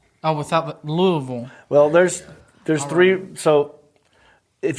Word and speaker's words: Louisville: They do make the baseball bat, and they do pronounce it Louisville. So that one's kind of acceptable. 90% of them will go Louisville.